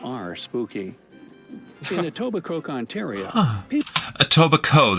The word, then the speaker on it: Etobicoke: In Etobicoke, Ontario, Etobicoke, the K is silent.